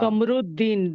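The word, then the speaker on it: قمر الدين: यही फर्क है कि सन लेटर्स में सिर्फ ऊ पढ़ा जाएगा, लाम गायब हो जाएगा। हाँ, और और मून सन लेटर्स लेटर्स में का जो सेकंड वर्ड का पहला लेटर है वो डबल हो जाएगा।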